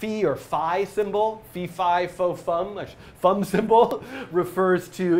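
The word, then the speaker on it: phi: F or fi symbol Fifi fum fum symbol refers to it's a Greek letter F but I think it's often informally pronounced fi I don't know why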